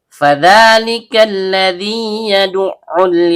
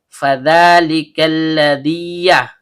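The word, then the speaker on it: فذلك الذي يدع: Jadi cara bacanya itu harus dituntaskan dulu madnya. Fadzalikalladzi yaduul gak boleh kita baca fadzalikalladziya.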